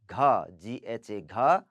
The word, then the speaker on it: घ: Then ग के बाद है घ. GHA, घ.